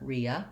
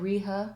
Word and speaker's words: rehabilitated: e vowel and then in rehabilitated and rehabilitation i don't say the h sound we just go right into the schwa sound here riya ria if i said riha rehabilitated probably people wouldn't notice but i think the reason that drops out is that it's easier and smoother to go right from vowel to vowel so re uh bill